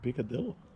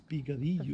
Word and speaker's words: picadillo: piccadillo and i'm going piccadilla by the way it's not filipino in spanish it's picadillo filipinos got it from spanish